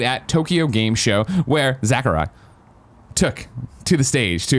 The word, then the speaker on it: Sakurai: Ultimate creator and director Sakurai. That's how you say it. Sakurai. You say it with a Z, though. No, I don't. Sakurai. I don't do that.